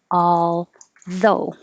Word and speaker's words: although: hear the bad dove this one looks like it has a lot of letters and sounds but it doesn't have very many sounds at all it's ah all though i'm gonna put i